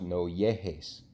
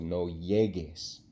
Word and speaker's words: llegues: Well, if we don't put that U in there, it's going to be pronounced no llegues. So we got to put the U there, so no llegues.